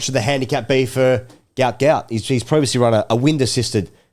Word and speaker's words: Gout Gout: My understanding is that he has said, despite his father saying he wants to be called Gout Gout, Gout has said, I would prefer to be called Gout Gout.